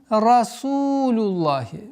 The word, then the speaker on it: رسول الله: Правило гласит, если перед словом лафзуль джаляля Аллах стоит огласовка дамма или фатха, лям произносится твердо, а если касра, то мягче. В данный момент у нас огласовка дамма, и поэтому лафзуль джаляля произносим лям в этом слове произносим твердо.